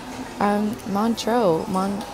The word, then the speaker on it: Montreux: Montreux, and just kind of showcase the city.